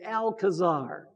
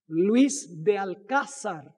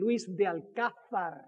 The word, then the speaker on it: Luis de Alcázar: as it, you know, usually we say Alcazar, but we need to pronounce it properly. Luis de Alcázar. Actually, in Spain, it would be Luis de Alcázar.